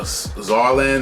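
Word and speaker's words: Saarland: Uh, Zarland, that's how you pronounce it. It's crazy. It's pron it's with it starts with an S, but it has a Z sound to it.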